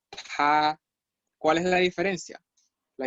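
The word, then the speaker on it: 她: Este carácter que acabo de escribir es ella y se pronuncia igual a él. O sea, ella y él se pronuncian igual. Se pronuncia ta.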